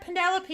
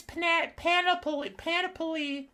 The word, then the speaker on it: panoply: It's not Penelope, it's Panoply.